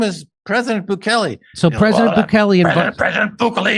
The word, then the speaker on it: Bukele: Bukele. So extraordinary El Salvador. Or if you're Alex Jones, you can pronounce it Bukele.